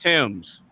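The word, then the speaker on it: Thames: Every every American every American I've ever met calls it either the tames or thes, right? No, it's it's it's pronounced Tims.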